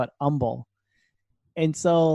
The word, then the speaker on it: Humble: it yeah where well it's spelled with an H but we all call it humble it's instead of humble we call it humble and so like I